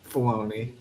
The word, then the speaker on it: Filoni: And it's still Dave Filoni. Just kidding. Just kidding, Jeremiah. Sorry. Rhymes with belief.